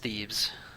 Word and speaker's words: Thebes: And yes, everyone, I know it's pronounced Thebes, but it's more fun to annoy people.